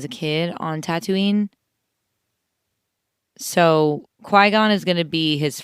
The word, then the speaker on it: Qui-Gon: Qui-Gon. That's how it's pronounced. Qui-Gon.